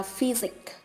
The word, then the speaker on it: physics: Ta có thể thấy ý A, ý B, ý C, âm S được đọc là z, còn ý D, âm S được đọc là s.